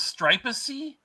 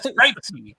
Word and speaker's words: Stripesy: I have to say, I always thought his name was Stripacey. I didn't know it was Stripesy. I was always Stripacey, and I thought that's a really terrible name because I wasn't saying it right. It's Stripesy.